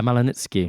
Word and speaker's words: Malanicki: And Rob, your grandfather was called Morris Malanicki, is that right? That's how you pronounce it? Yeah, Malanitsky.